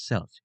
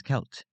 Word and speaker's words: Celt: will pronounce it as selt due to the word looking like it has a soft C. It is actually pronounced as Kelt because the C is pronounced as a K sound.